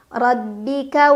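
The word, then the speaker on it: رَبِّكَ: anginnya Hames liukmibi ro dibaca secara tafkhim karena ro berbaris Fath ha jadi bacanya tebal rabbika wala la Mad thobii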